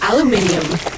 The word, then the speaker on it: aluminium: Aluminium or aluminum as Americans pronounce it incorrectly, but that doesn't make it any less useful.